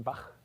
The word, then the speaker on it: Bach: of the sounds that they write with the letters C and H at the end of composers' names like Bach, right? Johann Sebastian Bach, his name ends with a velar fricative.